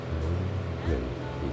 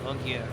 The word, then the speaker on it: Longueuil: Longueuil is how it's said in French. Longueuil, so in English you can say Longueuil.